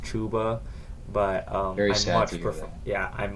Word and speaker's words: Chuba: the other day uh apparently his name is pronounced chuba but um much yeah